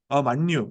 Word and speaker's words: 만유: 맞죠 니은 만 예 발음할 때는 유라고 해야 돼요 만유 만유의 주 오케이 좋아요